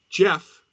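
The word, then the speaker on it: Gef: Anyway, Jeff, that's spelled G-E-F, the talking mongoose, was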